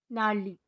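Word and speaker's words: gnarly: का दूसरा रूल है जब जी के बाद एन आए तो जी साइलेंट होती है जैसे एस आई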